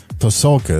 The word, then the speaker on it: Pasulka: It's uh it's Dr. Diana Pulka. Is that how you pronounce it?